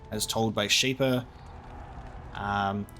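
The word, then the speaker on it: Czibor: We were wrong, as told by Shaper Zybor. I want to say that the C is silent.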